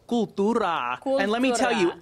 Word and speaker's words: Cooltura: The store is called Cooltura.